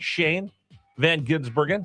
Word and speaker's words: Shane Van Gisbergen: Yeah, no, that was so although he just pronounces it the the the way it looks.